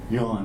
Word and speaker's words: Jan: my name is Yan although it's spelled j a an it's pronounced Yan I was named Yan